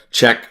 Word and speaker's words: Chek: Check, CHEK is how it's spelled.